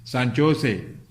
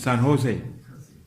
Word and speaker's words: San Jose: When you put J, that means you have to pronounce H.